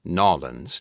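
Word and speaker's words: New Orleans: I pronounce it Nolans to give it some authenticity.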